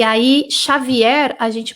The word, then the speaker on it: Xavier: É Xavier, Xavier. Mas esse X tem que ser bem rapidinho, tá?